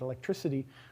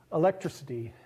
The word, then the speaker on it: electricity: an s you get electricity but also you shift the stress so it's not electricity it's electricity with stress on what was an ick and is now